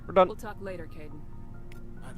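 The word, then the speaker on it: Kaidan: Oh, Caden, you're great. I am probably going to continue to call him Kaiden, though, because K-A-I is Kai in Japanese, and I am much more familiar with that pronunciation.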